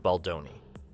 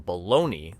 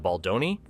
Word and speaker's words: Baldoni: And let's not forget the absolute disrespect Emmanuel showed Baldoni. This man couldn't even be bothered to say his name correctly, mocking him by calling him baloney like a middle school bully.